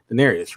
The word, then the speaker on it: Daenerys: Daenerys, right?